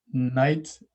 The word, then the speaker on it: knight: used to it but it has a silent k at the front of it which is a germanic influence on the english language you see in a